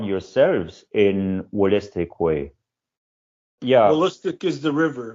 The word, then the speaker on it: Wolastoqey: WOLASTOQEY. So first I repeat the spelling, WOLASTOQEY. That's correct. And how do you pronounce it?